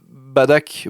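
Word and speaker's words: Bardock: Ça veut dire que Badak Bardoc, moi je prononce Bardoc parce que c'était comme ça dans les jeux vidéos.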